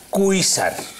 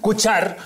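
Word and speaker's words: Cuixart: Menos a pronunciar Cuxar, muchísimo. ¿Cómo que no? Se llama Cuixar. Cuixar. Cuixar. Cuchar. Cuchar.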